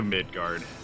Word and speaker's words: Midgar: oh here we go because it's midgar not midgard right yeah no it's it's midgar no d ude I like him